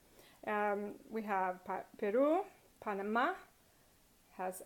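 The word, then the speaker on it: Perú: Another one is Peru, Peru, Peru. Because it ends in a vowel, and that vowel is stressed, you have to put a written accent on it for it to be correct.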